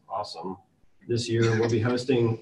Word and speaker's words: OSSM: A bunch of the Metasploit crew from Rapid7 will be there too, and our open source security meetup, also known as OSSM, or pronounced awesome, this year we'll be hosting what we're calling open source office hours.